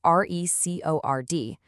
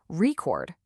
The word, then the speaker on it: record: If you stress the first part, record, it's the noun, the thing you listen to. But if you stress the second part, record, it's the verb, the action of recording something.